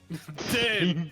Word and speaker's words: Din: Din, Din. Din rhymes with Alright. Gin.